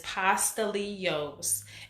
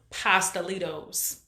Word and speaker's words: pastelitos: on top of that the pronunciation is pasta Leos and we call them pastelitos and we put our hard hard T on it too we have no